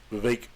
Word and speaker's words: Vivek: part of Vivek ramaswamy Vivek rhymes with cake and he seems to